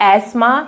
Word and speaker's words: asthma: की बीमारी ठीक है अगर आपको प्रोनाउंस बहुत अच्छा करना है तो आप उसको एस्मा प्रोनाउंस कर सकते हो बट हम कॉमन लैंग्वेज में क्या यूज़ करते हैं इसको अस्थमा तो ये जो अस्थमा की